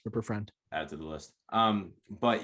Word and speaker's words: Rupert Friend: But hey, I actually do think Rupert, how do you pronounce it? Friend or Rupert Friend, I believe that's how it is. Rupert Friend.